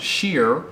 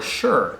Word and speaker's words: shire: end of counties and depending on where you're in the uk you pronounce it sheer or sure there's quite a few